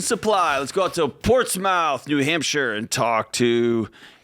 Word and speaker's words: Portsmouth: What's it called? Portsmouth. Portsmouth. Just Smith instead of Smouth.